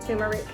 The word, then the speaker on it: turmeric: I love curry, some turmeric, or my best friend Ray would say, that's not how you say it, turmeric.